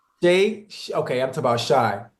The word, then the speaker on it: Shai: to make sure I say his name right Shay okay I'm talking about Shai hey remember the